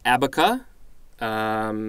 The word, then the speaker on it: abaca: Association next entry is I'm thinking it's pronounced abaca I believe that is correct noun from around 1805 looks like Spanish abaca with an accent on the the last letter number one a strong